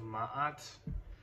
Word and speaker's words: Ma'at: what's called the the hall of ma'at i think that's how you pronounce it it's m a apostrophe m a ma um and you are